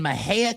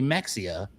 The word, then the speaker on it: Mexia: So, I have very little experience and we get this lead and it's in Maha, Texas, which is spelled M Xiai A. You would think it'd be Mexia, but it's Maha.